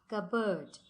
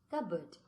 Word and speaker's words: cupboard: Cupboard. Okay. Here P we don't pronounce. Okay. Cupboard.